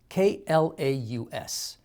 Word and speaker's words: Klaus: it's animated it's called klaus k-l-a-u-s uh you might think clause but all the publicity material tells us to pronounce it as klaus my only word for